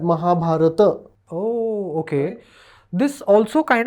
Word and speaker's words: Mahabharata: Ram okay r R and Mahabharata Mahabharata if you hear a Sanskrit scholar like Dr vi de he says it like that Mahabharata oh okay this also